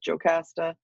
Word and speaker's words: Jocasta: Sometimes you see her name spelled with an I instead of a J, which is a little bit more Greek. Sometimes you'll see Epikaste, Epikaste, different pronunciations and different spellings of her name, but this version goes with Jocasta, so that's how you pronounce that.